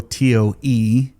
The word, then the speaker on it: tow: Pronounced toe, T-O-E. Toe. I don't know why you would. T-O-W is still toe. Yeah, they're both toe. Is somebody pronouncing like towing a car differently than the toe on your foot?